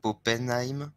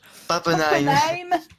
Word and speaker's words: Pappenheim: Pappenheim. Pappenheim, Pappenheim. Pappenheim. Tu vois, même encore lui, t'arrives pas à le Pappenheim, prononcer. Pappenheim. Ben oui, c'est un A, c'est pas un O, c'est un A.